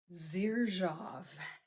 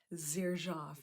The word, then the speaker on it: Xerjoff: Xerjoff. Xerjoff is how you pronounce it.